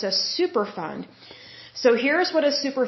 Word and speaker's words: Superfund: definition of what a super fund site is now when I say super fund that's ending in a d so it's not like super fun like we're having fun